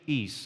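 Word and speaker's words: εἰς: So if we have this established, then from a linguistic point of view, the preposition is, or eis if you want to pronounce it this way, refers to purpose, not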